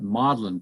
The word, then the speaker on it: Magdalen: that form one university and lewis taught at maudlin college uh it's actually it's spelled magdalene but it's actually pronounced um and